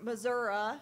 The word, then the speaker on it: Missouri: Klippenstein grew up on a beef cattle farm in Missouri, or Missouri, as I'm told it's pronounced by the locals.